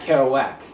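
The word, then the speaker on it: Kerouac: because uh you know because it Rhymes it's Jack carow whack and when you say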